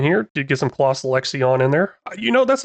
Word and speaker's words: Lexion: go back and check that comment apparently it's pronounced lexon lexon that's what I'm going refer to it as let me know if that's wrong do got a mod in here did get some CLA lexion in there you know that's another thing I've